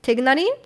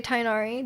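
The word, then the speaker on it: Tighnari: Like technically Tainari is named like in can't remember. I think it's Arabic. I think it's supposed to be pronounced like Tignari. But in the game they just say Tainari.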